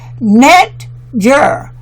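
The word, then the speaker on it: netjer: word used for god that word is n t y or pronounced net jer n e t dash j-e-r now pronounce the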